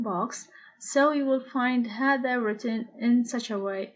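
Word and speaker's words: هذا: order to remember that the letter alif is not written but pronounced now remember hada is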